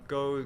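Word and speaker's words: Gose: I learned something new about Kolsch and Ghost, and mostly that they aren't the same thing, and how Ghost is actually pronounced. Ghost. Ghost. G-O-S-E. Oh, right. Goza.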